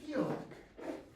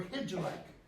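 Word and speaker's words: Hygelac: The character Helic or Higelac, as some pronounce it.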